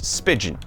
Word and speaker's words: Spigen: Spigen. Like pigeon, I've never known how to pronounce it.